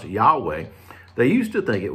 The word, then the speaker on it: Yahweh: think today is pronounced yahweh they used to think it was pronounced jehovah but more research and and uh work has been done you know the hebrews didn't have a j sound you wouldn't have a